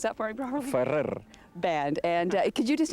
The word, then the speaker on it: Ferrer: Can you pronounce that for me properly? Ferrer.